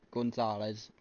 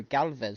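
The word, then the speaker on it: Gálvez: No, Oscar E. Juan Gonzalez. No, Galvez, sorry.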